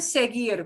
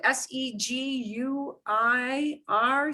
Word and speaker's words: seguir: which we don't pronounce its sole job is to stand there to make sure that you pronounce the g like a g instead of pronouncing the